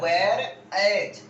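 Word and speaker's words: whereas: तो इसको बोलते हैं वेयर एज, इसको बोलते हैं वाइल। इन दोनों में एच जो है साइलेंट है ना।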